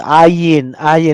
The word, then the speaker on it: ayin: also sounds like Y, Ayin. Oh, they will remember Y. That's not Y. It is Ayin, not pronounced.